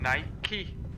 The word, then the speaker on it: Nike: So they I've have never had anyone say different, but Says it's pronounced Nike.